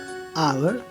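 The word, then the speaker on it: hour: कुछ शब्दों में एच ओ से शुरू होने वाले शब्दों में एच का प्रोनाउंसिएशन नहीं होता। For example ऑनर, honest, honourable, आवर, ऐसे वर्ड्स में, ओके।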